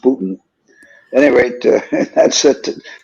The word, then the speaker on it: Boonton: It's spelled Boonton, but it's pronounced Boonton.